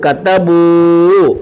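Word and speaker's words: كتبوا: Extra അലിഫുണ്ട്, ഈ അലിഫിനെ ഉച്ചരിക്കത്തില്ല, പറയത്തില്ല, വായിക്കത്തില്ല. അലിഫിനെ ആ ഇ ഉ എന്നൊന്നും പറയത്തില്ല. കത്തബൂ കത്തബൂ ഫഅലൂ.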